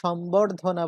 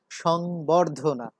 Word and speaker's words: সংবর্ধনা: সম্বর্ধনা, সম্বর্ধনা, এখানেও ব উচ্চারিত হয়েছে, যদিও এই শব্দটি এখন আর সম্বর্ধনা বলা হয় না, এখন আমরা এটাকে বলি সংবর্ধনা, সংবর্ধনা।